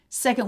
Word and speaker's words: second: Second weekend in second. So we have syllable stress on se. Second. Second syllable very fast. K, schwa, N, D. Knd. Knd, knd, knd. Not conned or coned.